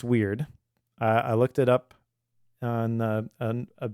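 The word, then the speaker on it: wyrd: And it is pronounced weird.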